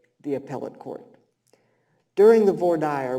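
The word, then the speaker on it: voir dire: appell court during the V dire which is how we pronounce jury selection in Texas none of this frenchified stuff VOR dire you can say it VOR dire a van member referred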